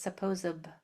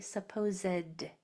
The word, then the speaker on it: supposedly: Because a lot of people pronounce that word as supposably. Supposably. That's incorrect. It's actually supposedly.